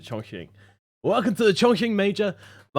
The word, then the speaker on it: Chongqing: the pronunciation may still chong ching chong ching that's it chongqing welcome to the choking